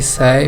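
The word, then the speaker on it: psi: एक होता है ओमेगा, एक होता है फाई, एक होता है साई, पी साइलेंट होता है, और एक होता है चाई।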